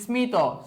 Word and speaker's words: স্মিত: যাই ম ফলা যুক্ত কতিপয় সংস্কৃত শব্দের উচ্চারণ সংস্কৃত রীতি অনুযায়ী হয়ে থাকে মানে সোজা কথায় যেগুলো হচ্ছে ম ফলাযুক্ত সংস্কৃত তৎসম শব্দ সেগুলার উচ্চারণের কোন পরিবর্তন হয় না যেমন দেখো কুশমান্ড